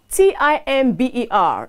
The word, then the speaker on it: timber: T-I-M-B-E-R is wood used for building or carpentry and is pronounced timber, while T-I-M-B-R-E is pronounced